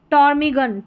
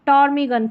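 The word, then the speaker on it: ptarmigan: यहां पर है टॉर्मीगन। टॉर्मीगन तो पी साइलेंट है।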